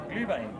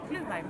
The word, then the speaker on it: Glühwein: Glühwein. Glühwein. Glühwein. Glühwein, yes, mulled wine. So you call it Glühwein and then you say cheers and you say Merry Christmas. And Cheers. Every time. Glühwein.